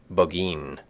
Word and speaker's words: Burgoyne: had a famous foxhound named burgoyne he pronounced it bogeyin which my informant used